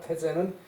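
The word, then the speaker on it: 太宰: 조선으로 말하면 어떤가는 벼슬아치가 태재는 그 으뜸 간다라고 하기 때문에 대라고 써 놓고도 테라고 읽어요 태재에 문어자공활 자공에서 무릎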